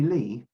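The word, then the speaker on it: Ley: that we're indebted to the great organist henry lee spelt any why but it's pronounced lee who is to play the westminster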